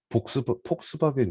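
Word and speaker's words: Volkswagen: 그래서 폭스바겐 있잖아. 폭스바겐은 V잖아. V는 F로 발음이 돼요. 그래서 복스바겐이 아니라 폭스바겐이라고 합니다. 그렇죠?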